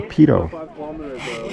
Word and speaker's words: Peyto: There's many uh that this lake is named after this gentleman, Bill Pedo. So that's the proper pronunciation, Pedo.